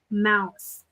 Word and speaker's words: Mouse: Her last name is pronounced Mouse, just like a rodent.